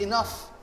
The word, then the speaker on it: enough: word is not pronounced in all yeah it's pronounced enough okay even though this these letters here in